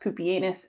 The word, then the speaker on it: Pupienus: bot i have here on the pile is poopianus and balbinus yes it is pronounced poopyanus it's probably a good thing that the romans